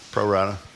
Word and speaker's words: Pro Rata: How do you pronounce his newsletter? Tell me. Pro Rata.